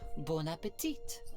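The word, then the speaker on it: bon appétit: here I'm ordering dessert I mean Bon Appetit but she doesn't pronounce the second tea while I'm away okay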